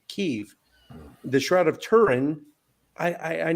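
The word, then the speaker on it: Kyiv: Modern newscasting will call it Kiev as one syllable, but it's Right. actually two syllables. It's Kiev. It's emphasis on the first syllable, Kiev. Okay.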